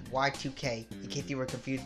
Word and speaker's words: YIIK: - waiting oh there it is they pronounced it if breath here it is y2k a postmodern RPG but for now and forever